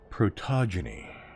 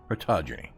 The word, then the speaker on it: Protogeny: And now we're on to the Purloined Protogeny, is the way it's pronounced. I couldn't say it last week. I don't know why. I was like Protogeny.